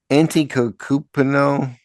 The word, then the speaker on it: Antetokounmpo: And so one thing that's happened unbelievably is that Giannis Antetokounmpo, how do you pronounce this guy's name? Antetokounmpo, the Milwaukee Bucks star, Giannis, is now a